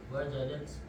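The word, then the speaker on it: وجدت: Al-ummu wajadat al-miknasata. Bagus, bacanya wajadat. Ingat ya, kalau ada ta ini ada 4 kemungkinan. Wajata, wajati, wajatu bisa ya. Maka perlu hati-hati. Kita lihat dulu konteksnya, dibaca wajadat.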